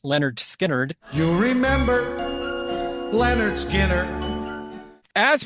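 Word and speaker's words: Lynyrd Skynyrd: It's a track from their 1973 debut album, pronounced Leonard Skinnerd.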